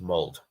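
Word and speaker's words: Molde: But Drew says, the E in Mold is pronounced. They're not an English club in order to not pronounce the E. Oh, the Mold is pronounced. Mold.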